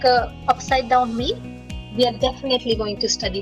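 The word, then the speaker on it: oui: Vishal, yes, it sounds like we. But let's nuance it. Let's add a little nuance to it. We, but add we. We. Like it's like yippee, but it's that kind of intonation. We.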